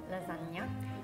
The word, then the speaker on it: lasagna: so it's lasagna lasagna so in italy wonder is g and n together you say okay okay it's similar to when there is s c i together uh-huh you say she but it's to say that s c i and g n both have different sounds but together like the letters makes one sound oh you know there